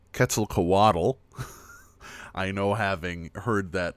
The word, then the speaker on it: Quetzalcoatl: Yeah, Quetzalcoatl. So it's on the co in that Quetzalcoatl.